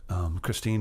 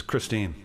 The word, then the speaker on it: Christine: a tune called christine christine is my wife's name and it's also one of those great rock and roll names it rhymes with queen gasoline and it also might in